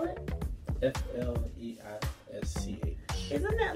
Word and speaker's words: Fleisch: And, Fleisch. That's how you say it in German. Fleisch. How do you spell it? F-L-E-I-S-C-H.